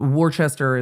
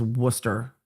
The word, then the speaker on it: Worcester: I've heard Peabody spelled Peabody, but that Massachusetts Warchester is is Worcester.